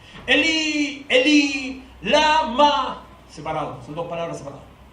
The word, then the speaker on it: Eli, Eli, lama sabachthani: Cerca de la hora novena, Jesús clamó a gran voz diciendo: Eli, Eli, lama sabachthani. Así se pronuncia en hebreo. Eli, Eli, lama.